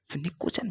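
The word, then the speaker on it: pnictogen: पी एन आई P silent है। को जन निकोजन फैमिली क्यों कहा जाता है?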